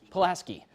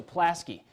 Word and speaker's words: Pulaski: So let's make sure actually we pronounce this right. Pulaski. Okay, so Pulaski.